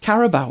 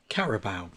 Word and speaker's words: Carabao: Now, I know it's pronounced Carabao, isn't it? Carabao.